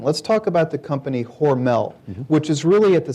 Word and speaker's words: Hormel: It's worth noting right off the bat that the family still pronounces the name Hormel. It's a German name, not a French name, as the company was